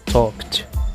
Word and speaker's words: talked: Então, talk se pronuncia no passado talked, né, com a terminação com som de T.